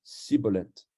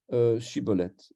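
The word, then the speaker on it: Shibboleth: Il lui disait « Alors, eh bien, dis Shiboleth ». Alors il disait Siboleth, parce qu'il avait un défaut sur la langue. Il ne savait pas prononcer Shiboleth.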